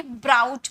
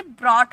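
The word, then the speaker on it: brought: तो ब्राउट नहीं बोला जाता, इसे ब्रॉट बोला जाता है।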